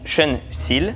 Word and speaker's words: Sean Seale: On se retrouve aujourd'hui avec Sean Seal, ça se prononce comme ça?